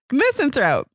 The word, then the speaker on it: misanthrope: and miss anthro misanthrope how do you say that way missin throat that's right mister and missing throat